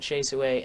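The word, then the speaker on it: Hsieh Su-wei: so look her up shay suey suey shay however they put it on google i know they pronounce it chase away and then it's uh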